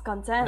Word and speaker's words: content: It's not pronounced like that, it's content.